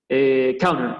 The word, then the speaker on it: counter: Counter, esa palabra, bueno, es medio tramposa para los que hablamos español porque la T no se pronuncia, es como que la T vuela.